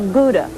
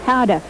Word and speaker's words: Gouda: how do you say gouda powder no no how do you say good good how to cars very simply in dutch gouda is pronounced hada we're back once again